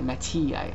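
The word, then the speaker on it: Mattei: uh guy named mati it's spelled m-a-t-t-e-i matia that's how i'm going to pronounce it in italy and um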